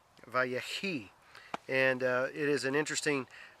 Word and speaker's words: ויחי: And if I pronounce it right in Hebrew, it's Vayechi, Vayechi.